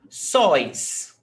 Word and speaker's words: sóis: Sóis. Sóis. Sóis is a monosyllable tônico. It's not sóis, okay? It's not 2 syllables. It's not sóis, it's sóis, one syllable.